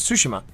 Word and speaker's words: Tsushima: I learned the proper pronunciation, Ghost of Tsushima.